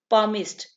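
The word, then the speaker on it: palmist: पामिस्ट, इसमें एल जो है ये साइलेंट होगा, ठीक है।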